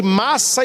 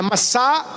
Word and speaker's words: Massá: É por isso que aquele lugar, Moisés colocou o nome de Massa e Meriba. Nas leituras geralmente a gente lê Massa e Meriba, mas a pronúncia certa é Massá e Meribá.